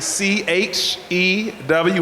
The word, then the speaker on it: Chew: as a chef right my last name is actually c h e w which spells chw I like to say my name is Chef chew and as I always say going to give you something to chew on so anyway I want